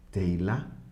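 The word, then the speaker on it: תהילה: Se dice teilá o teilim, se dice himnos en plural.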